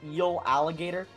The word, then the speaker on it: Eeligator: But you've moved your tail out of the way of this Eeligator. What's the plan? Can you say its name one more time? Is that an eel alligator?